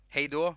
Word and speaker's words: Hej då: Hej då. That's how you say it in Swedish. Hej då.